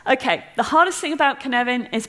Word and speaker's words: Cynefin: the hardest thing about Kevin is pronouncing it it's a Welsh word so I would like